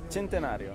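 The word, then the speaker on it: Centenario: you think of the gentario how do you pronounce it in Italian first first and foremost gentario gentario the gentario what do you think this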